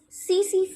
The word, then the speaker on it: tsetse: disease, trypanosoma, the vector to this disease is tsetse fly. Tsetse fly. We call it as, we spell it as TSE, TSE.